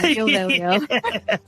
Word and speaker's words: Veglio: Just remember not to pronounce the G when you meet him. Neal Veglio.